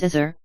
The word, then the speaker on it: Osiris: The general view is to pronounce it as Azur, where the A is a glottal stop, as you hear in Arabic and Hebrew today. Osiris, Isis, Horus, and Seth